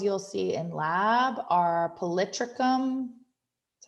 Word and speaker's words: Polytrichum: Some of the mosses you'll see in lab are Polytrichum, that's how you say that, and Nium, kind of like Bill Nye, Nium.